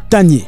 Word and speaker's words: Tagne: À entendre les Marocains, si vous ne prêtez pas attention, vous pouvez penser que c'est Kanye, comme Kanye West, parce qu'il dit Tanye.